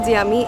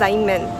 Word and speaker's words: Xiamen: And since this place is very near to the place where we were in, the Xiaomi, sorry, my apologies, it's not Xiaomi, it's Xiamen.